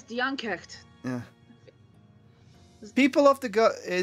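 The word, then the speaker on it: Dian Cécht: Diankrecht. Oh wait, right, it was Diankecht.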